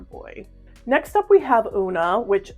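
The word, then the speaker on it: Oona: Grove for a boy next up we have unaa which spelled specifically this way with o o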